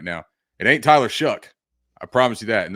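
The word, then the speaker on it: Shough: now, it ain't Tyler Shuck. I promise you that. And that is how you pronounce it, Shuck.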